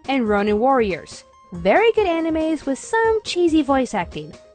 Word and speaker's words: anime: However, I get a lot of complaints with just how I say the word anime.